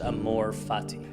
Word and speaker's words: amor fati: there's a Latin phrase pronounced Amor Fati it's one of the more powerful ideas I've